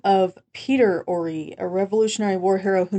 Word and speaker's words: Horry: Now, what I found by reading several web pages, it's actually spelled Horry, but it's pronounced Horry, as we've been pronouncing it, and was the name of Peter Horry, a Revolutionary War hero